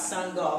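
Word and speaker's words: Sangoel: made a son and he made a goal with a soccer ball so you can pronounce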